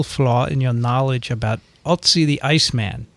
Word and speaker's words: Ötzi: hereby I want to inform you of a little flaw in your knowledge about Otzi the Iceman. Is that how you say it? Otzi? Otzi. Yeah. Ötzi. More like Ötzi. Ötzi.